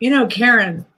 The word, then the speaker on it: Karen: Anymore, I say, Karen, like the curse word. That's how I say my name.